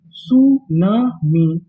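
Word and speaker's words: tsunami: अब यहां पे जो हमारा टी लिखा है वो भी हमारा साइलेंट रहेगा। यानी हम लोग पढ़ना एस यू से चालू करेंगे। तो मीनिंग क्या बनी? सुनामी। सुनामी। सुनामी। यहां पर हमें टी का उच्चारण नहीं करना।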